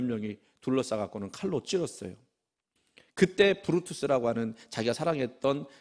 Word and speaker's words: 브루투스: 블루투스가 아니고 브루투스.